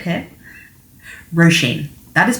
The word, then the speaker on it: Róisín: That is pronounced Róisín, not Rosin, not Roisin, not Roisin, not Raisin, not Rosalind, not Rosie. It is Róisín. And it is also not Róisín, as a lot of English people like to say. It is, the stress is on the first syllable. Think of it as Rosheen, not Rosheen. And I think you will have less trouble.